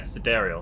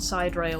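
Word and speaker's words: Sidereal: Yeah, cedariel. That's how it's pronounced. Not side rail.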